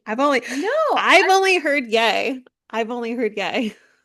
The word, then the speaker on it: Ye: He does pronounce it as in yay.